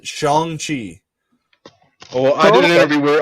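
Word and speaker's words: Shang-Chi: looks in an interview they said that you're supposed to pronounce it shanghi oh i did it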